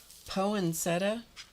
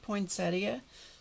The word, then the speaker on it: poinsettia: I don't know if that's a Michigan thing. Poinsetta. I don't think so. My dad would not have agreed with that. Okay. So there are some words like that that you know have unique pronunciations. I think sometimes it's regional. But I said I said have you looked at the spelling of the word poinsettia?